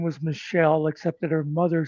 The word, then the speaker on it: Michel: Like, but not like spelt like MICHEL. Yeah, like that. there's those. Yeah, I think that's usually what I think usually in French, though it's pronounced Michel.